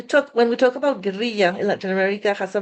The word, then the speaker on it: guerrilla: And I wanted to keep the word ger in the way that we pronounce it in Latin America because this is what I'm also referring to.